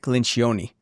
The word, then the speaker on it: Lencioni: So I started devouring Patrick Lencioni. I don't know if I'm like... Patrick Lencioni. Yes, pronounce his last name.